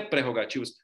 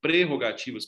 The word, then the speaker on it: prerrogativas: errado gramaticalmente falando interrogativo não é prerrogativos mais prerrogativas porque só ver a